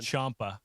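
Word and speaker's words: Ciampa: Champa. Champa. Oh, Champa. Oh, yeah. Chomp. Chomp. Champa. I always tell people it's like ciao.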